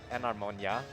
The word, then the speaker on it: Enharmonia: There's so many ways you can mispronounce Enharmonia. I love it. I'm mispronouncing it by saying it the way I just said it. That's the I'm best trying part. to think of the I believe It's supposed to be like Enharmonia, not Enharmonia.